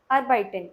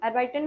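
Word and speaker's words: arbeiten: अर्बाइटन मतलब to work. फिर से रिपीट करिए, अर्बाइटन। अर्बाइटन मतलब टू वर्क। EI वाला साउंड है, जब भी कहीं पे EI रहेगा तो वहाँ पे I वाला साउंड रहेगा, और IE रहेगा वहाँ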